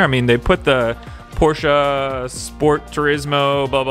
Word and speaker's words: Porsche: the 96 Porsche Carrera, or Porsche Carrera, however you guys want to pronounce it. The proper way though is Porsche.